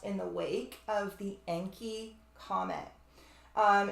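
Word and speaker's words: Encke: the wake of the enki Comet um it's spelled e n c k e very close to the name of the Sumerian god enki which is literally tied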